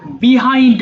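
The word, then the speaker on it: behind: আচ্ছা একটু খেয়াল করো বিহাইন্ড মানে পিছনে এটাকে দুইভাবে উচ্চারণ করা যায় বিহাইন্ড অথবা বাহাইন্ড তবে বাহাইন্ড কথাটা এটা বেশি প্রচলিত বোথ আর কারেক্ট বিহাইন্ডও বলতে পারো বাহাইন্ডও বলতে পারো নো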